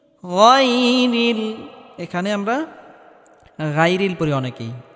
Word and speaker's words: غير: গায়রিল, এখানে আমরা গায়রিল পড়ি অনেকেই, গায়রিল পড়া যাবে না, গায়রিল, গয়ন মোটা করে উচ্চারণ করতে হবে।